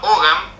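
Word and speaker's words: Ogham: Es un lenguaje que se llama Ogam. se escribe O G H A M.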